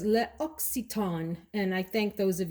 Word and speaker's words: L'Occitane: As many times as I've walked into that store, I always called it L'Occitane. Absolutely incorrect, apparently, is L'Occitane.